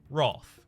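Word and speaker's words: wroth: wrong word WRO th I pronounce WR a th Roth that is the official that is the official pronunciation guide the the British pronunciation of it which as a member of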